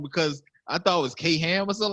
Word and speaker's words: Kham: I thought it was K Ham or something like that. I was tripping. I was like, K Ham, and it was like, nah, it's pronounced Kham, like CAM.